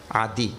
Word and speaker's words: Adi: Adi. This word has 2 syllables. 2 syllables.